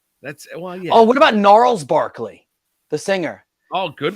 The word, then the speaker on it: Gnarls: I haven't thought about Gnarls Barkley in a while no I was really it's a g-n-a-r-l-s yeah it's a it's a silent G I want to tell